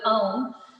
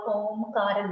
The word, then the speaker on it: om: to do prama so a u m are the three syllables in the prama okay and and actually the word om um signifies a u n n Okay so it starts